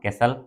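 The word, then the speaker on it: castle: ओ एन ध्यान रखिएगा केसल इसको य पर टी साइलेंट रहता है इसको हम लोग कैसल पढ़ते हैं कसल कहिए पैलेस कहिए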